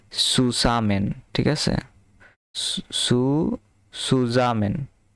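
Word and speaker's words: zusammen: সাথে last last wins জুসামেন গেহেন last উনস last উনস জুসামেন আচ্ছা এখানে জুসামেন হবে না এটা হবে যে সুসামেন। ঠিক আছে? সুজামেন। কারণ জেড এর উচ্চারণ হবে ছ এর মত।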